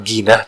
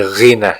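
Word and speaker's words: غنى: Nah, itu bukan ginah tapi ghina ya dibacanya.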